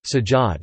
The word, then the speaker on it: Persillade: Persillade, French pronunciation, sajade, is a sauce or seasoning mixture of parsley, French, persil, chopped together with seasonings including garlic, herbs, oil, and vinegar.